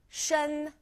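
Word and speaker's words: 身: J ID card so Shen pretty basic s h e n Shen it's first tone so our tone marker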